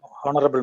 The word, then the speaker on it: honorable: honorable man. Excellent. Very good. Because H is silent.